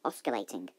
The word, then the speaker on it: oscillating: It looks like it should be pronounced oscillating. Repeat after me. Oscillating.